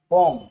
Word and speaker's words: poem: पता है आपको इस वर्ड का उच्चारण पोएम नहीं होगा, पोम, पोम।